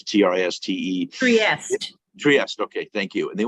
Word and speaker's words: Trieste: I've never been there, but a bunch of people went to Italy, this Trieste, or I can't pronounce it, Trieste. Trieste, okay, thank you.